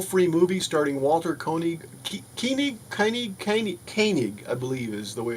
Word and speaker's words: Koenig: I've got Renegades, the Requiem, which is a full free movie starring Walter Koenig, Koenig, I believe is the way it's pronounced, Nichelle Nichols, and more.